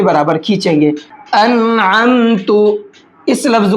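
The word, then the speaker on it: أنعمت: वहाँ भी लोग गलत पढ़ते हैं, क्या पढ़ते हैं? अलमता, लाम के साथ पढ़ेंगे या तो, अगर नून के साथ में पढ़ेंगे तो अनमता पढ़ेंगे, हालांकि यहाँ पर आइन भी है। हिज्जे करके समझते हैं। हमज़ा नून ज़बर अन, आइन मीम ज़बर अम, अन अम, ता पेश तु, अन अम तु, ठीक है। आइन का साउंड भी आना चाहिए, अगर आइन का साउंड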